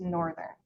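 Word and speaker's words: NRTHN: For example, the spelling of the NRT thn departure is pronounced northern.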